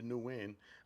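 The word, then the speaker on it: Nguyen: So it was Katy Perry, Lauren Sanchez, Gail King, Aisha Bao, Amanda Newin. I know how to pronounce new win because I dated a Vietnamese girl.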